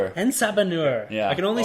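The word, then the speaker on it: En Sabah Nur: Ensabanur. Ensabanur.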